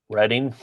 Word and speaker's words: Reading: So how do you guys pronounce this? Reading.